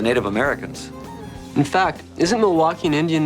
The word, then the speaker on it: Milwaukee: trade with the Native Americans in fact isn't Milwaukee an Indian name yes Pete it is actually it's pronounced milwa which is El gonin for the good land